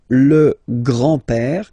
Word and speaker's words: grand-père: So, le grand-père, grandfather. Le grand-père. Remember, accent grave like that. It's this open père. Le grand-père. Le grand-père.